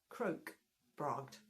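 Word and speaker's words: krokbragd: And but it's pronounced croak bragged.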